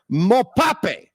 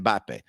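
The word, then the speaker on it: Mbappé: years ago he goes watch this soccer player mopa which is Killian mbappe but anyway he wasn't wrong with him even though he got his name wrong all right okay Primo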